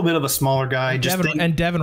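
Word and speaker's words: Devon: Devin rhymes with seven. It does rhyme with seven.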